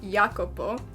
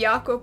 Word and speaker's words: Jacopo: started recording this and apparently his name is pronounced yakupo so sorry that any yakop was out there we didn't mean anything by it we just saw his name and we were like it came naturally it did it did